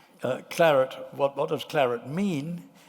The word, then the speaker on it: claret: First Choice in Bordeaux I'm going to say Claret actually because it's U two shorter syllables uh clarit what what does clarit